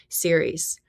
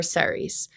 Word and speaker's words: Ceres: significance, is the asteroid Ceres or Seres, depending on your pronunciation.